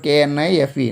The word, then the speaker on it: knife: Next word, K-N-I-F-E, knife, knife. That means K is silent here.